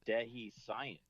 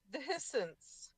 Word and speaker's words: Dehiscence: I think it's Dehi Science. Dehi science. No, it's dehiscence. Dehiscence.